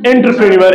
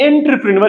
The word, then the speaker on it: entrepreneur: Entrepreneur. It's not entrepreneur, it's entrepreneur.